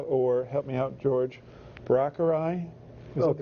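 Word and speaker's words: Braucherei: known as powwow, or help me out, George, Brockerai. Is that the correct pronunciation?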